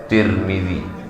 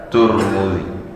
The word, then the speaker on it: Tirmidzi: sempurna sempurna hadis riwayat Tirmidzi boleh juga dibaca turmudzi boleh juga dibaca tarmizzi tiga cara membacanya tarmizzi Tirmidzi, Turmzi begitu dalam kitab Alfathul Mubin bisyarhil arbain.